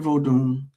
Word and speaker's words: Vodun: vo comes from or vodu v o d u n. The n is usually salad voodoo but we call it new African vod.